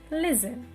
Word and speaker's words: listen: it is not listen t is a silent letter listen next one right it